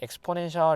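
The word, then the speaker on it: exponential: 2.7 정도의 무리수라 봤었고, 얘 읽어주는 방법이 엑스포넨셜이라고 읽어요. 포넨셜 이렇게 해서 이거를 앞글자 따서 이제 E가 되는 건데, 뭐 지수의 기하급수적인 이런 뜻인데요. 아무튼 E랑 E랑 헷갈리니까 보통 얘를 말할 때 엑스포넨셜 이렇게 말하는 경우도 있을 겁니다.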